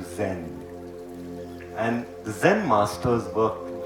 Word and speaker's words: Zen: As Buddhism went from India to China, the word dhyan became pronounced as chan. As it traveled to Japan, it further got mispronounced into Zen.